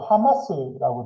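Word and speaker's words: חמס: 그러니까 히브리어로 여러분 하마스라고 되어 있는데 요즘 그 이스라엘과 전쟁하는 하마스 있잖아요. 그 발음이 똑같아요.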